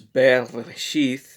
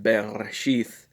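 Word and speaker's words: בראשית: One example is Bereshith, and yes, it is pronounced Bereshith, not Bereshit. A lot of people think it's Bereshit. It's not Bereshit, it's Bereshith.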